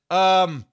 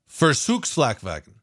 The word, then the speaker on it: Versuchsflakwagen: I'm going to try to pronounce it even closer to what it is. Okay. Thanks to you guys in the comment section. We're going to pronounce it Versuchsflakwagen. Versuchsflakwagen.